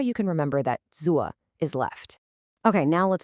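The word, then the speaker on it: 左: It falls and then it rises. Listen really carefully. Z. One more time. A really common mistake is to either cut it short or to not complete that rising part at the end. Let's practice it together. Z. Can you feel that dip? That is absolutely crucial.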